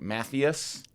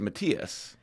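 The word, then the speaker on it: Mathais: exchange student named matius but it it was spelled m a t h a i s so it looks like matthus it does but it was Matias and O even when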